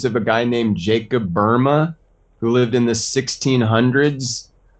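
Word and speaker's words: Böhme: his name does it's pronounced Burma but it's spelled b-o-h-m-e Jacob j-a-k-o-b b-o-h-m-e is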